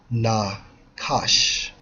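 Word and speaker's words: נָחָשׁ: as age 51 75 pronounce as na cosh and the definition is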